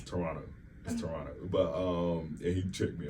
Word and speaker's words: Toronto: Like I be saying Toronto. It's Toronto.